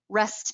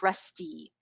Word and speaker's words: rest: So rest becomes like rusty.